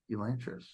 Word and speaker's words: Elantris: I thought you said Elantris, Oh, like the lost city of Atlantis, but it's with an E, Elantris.